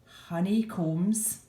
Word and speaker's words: honeycombs: China Capital can build Honeycombs remember that b okay it's a silent B that are more than